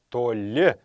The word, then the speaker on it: толи: туалет туалет повторяйте его все калмыцкие слова имеют окончание на последний слог поэтому не толь будет а то ли правильно произноситься толи имеет главное значение зеркало